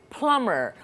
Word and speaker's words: plumber: nurse electrician very good plumber this word it's important the B is silent it's not plumber' it's